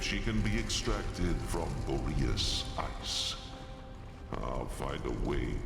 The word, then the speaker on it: Boreas: In earlier days, Oh, everyone pronounces that name differently. I always thought it was Boreas myself.